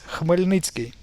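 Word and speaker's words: Хмельницький: But the actual pronunciation for this is Khmelnytsky.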